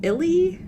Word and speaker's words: Ihli: And that was by Noelle W. Illy, I want to say that's how you pronounce the last name. It's IHLI.